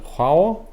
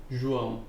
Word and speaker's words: João: How do you pronounce that? João João.